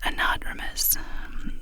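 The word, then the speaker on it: anadromous: The word is pronounced anadmis with the stress on the second vow, second syllable even.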